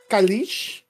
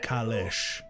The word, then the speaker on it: Kalesh: For one, Kalish, I believe is how you pronounced it. It's from David. David, yes, that brings me back, and no harm, no foul, but it is pronounced Kalesh.